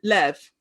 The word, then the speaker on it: Liev: Do we call him Leaf or Life? uh, Lev, Lev Schreiber.